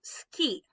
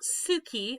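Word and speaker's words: 好き: Okay, the next word we have is ski. Ski. This is not suki. Again, we've got a voiceless vowel there. Ski. Like as if you're hitting the slopes.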